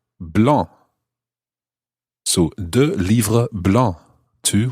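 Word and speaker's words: blancs: to the masculine singular blah b-l-a-n-c-s the c and the s are both silent there blah so the libra blah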